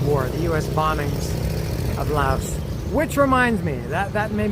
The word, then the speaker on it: Lao: And it seems that YouTubers love to call this country Lao. They don't call it Laos, they call it Lao.